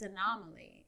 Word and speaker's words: anomaly: you keep saying, like, it's not pronounced like that. It's anomaly.